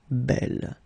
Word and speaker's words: belle: Okay, and the feminine form belle. So it's actually quite interesting because these two forms, so the second masculine form and the feminine form, are phonetically the same. It's belle.